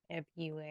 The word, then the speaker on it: February: They do pronounce the second R. February.